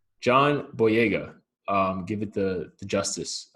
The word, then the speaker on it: John Boyega: segment here we got jambo yoga jeez i just said his name wrong that's terrible john john boyega um give it the